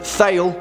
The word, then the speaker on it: Thale: Now, some of you may pronounce this film Thale, which is fine. I mean, it's Tole, but whatever, say what you want.